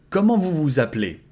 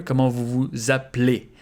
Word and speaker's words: Comment vous vous appelez: And here also you can devocalize this E here. Comment vous vous appelez?